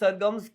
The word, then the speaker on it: SRGM: People do have an issue with the name, as in we spell it SRGM, that's Saregama, and that's pronounced Sargams, kind of like how SZA, the artist, is SZA.